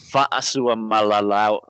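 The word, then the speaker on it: Fa'asuamalaui: So it's Fa'asu Malawi. Fucked it. Fa'asu Malawi.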